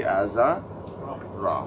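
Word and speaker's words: آزر: So the way we pronounce the word azar here in the jar state would be aza ra.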